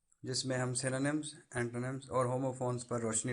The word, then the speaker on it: synonym: तो पहले ये मैं बता दूं कि वर्ड सिनोनिम है, सिनोनियम या इस तरह का कोई और नहीं है, जैसा कि मैंने कुछ बच्चों को बोलते हुए सुना है। द वर्ड इज सिनोनिम, इसकी प्रोनाउंसिएशन ऐसे है।